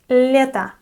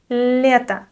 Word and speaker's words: лето: The next word is лето. Лето. The unstressed O at the end of this word is pronounced like a.